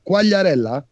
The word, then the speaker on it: Quagliarella: He's called Quagliarella. Did I pronounce that right?